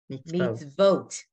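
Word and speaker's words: מִצְוֹת: Mitzvot. It's an O. Vote.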